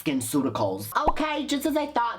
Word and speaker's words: SkinCeuticals: then we get this it's called skin cuticles and this is a simply clean gel it's not the cuticles of your fingers it's skinceuticals but i'ma let it